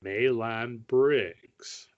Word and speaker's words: Maelon Briggs: of them's name was maelon briggs three syllables on in the middle and hard gs he was a captain